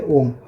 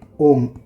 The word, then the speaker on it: ओम: ओम आपको without any effort बोलना होता है। इसको इस तरह बोलना, ओम नहीं बोलना है, आपको बोलना है पहले अ बोलना है।